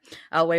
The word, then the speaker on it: Eyllwe: knew an uh I how do you pronounce it L I say l yeah okay laway woman who taught it